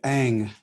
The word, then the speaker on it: Ng: I'm not sure exactly how to pronounce it. Ang. What is it? Yeah, Ang.